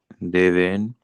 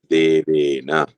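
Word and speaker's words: देवेन: Unlike Hindi, you pronounce the whole last letter. Okay, maybe in Hindi, Deven, right? This will become Deven, but here we have to pronounce that whole letter, Devena.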